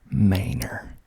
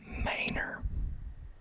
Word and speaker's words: Manor: it next is maynor maynard maynor manor it's spelled m-a-n-o-r someone's trying to talk to